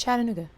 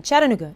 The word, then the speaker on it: Chattanooga: Chattanooga, but it's Chattanooga. Chattanooga. You don't pronounce the N. Chattanooga.